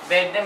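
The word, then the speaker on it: verde: where they are they better means green the sound is very soft very the same sounds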